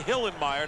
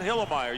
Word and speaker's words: Hillenmeyer: I love that guy you got to say hillenmeyer not hillermeyer you can't be lazy in the pronunciation Goose it's my kind